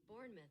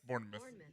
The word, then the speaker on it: Bournemouth: You got the pronunciation? Bournemouth. Yeah, you were Bournemouth. Right. Yeah, Bournemouth. It's spelled mouth, though.